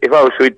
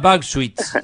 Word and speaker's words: Bauchwitz: Pronunciá vos el apellido, dale. Es Bauchiwitz, alemán. Ah, Bauchiwitz, ahí está. Bueno, lo pronuncié siempre mal.